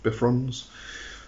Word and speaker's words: Bifrons: the joint button okay bye fronds I prefer bike runs myself um I have heard it being pronounced bifrons but I'm going to continue with bikrams okay correspondences date June